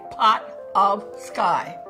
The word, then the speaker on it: Potofsky: I would say pot of sky. Potofsky is how it's pronounced.